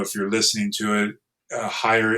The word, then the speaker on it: Heyer: Again, if you're not watching this video, if you're listening to it, Higher is my last name, and it's spelled Heyer.